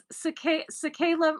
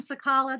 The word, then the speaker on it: Cicala: Okay, so cicada, it's cicala rhymes with cicada. It's I was calling him Sakala. That's not how you pronounce his name. It's cicada.